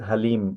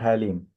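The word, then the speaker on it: Hallym: research professor at basically this is not a Hal like we are Muslim so the pronunciation is halim because one name of Allah is halim this halim in Korean the pronunciation is totally different helim so anyway so currently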